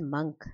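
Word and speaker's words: monk: I think मॉन्क is pronounced as मंक, है ना।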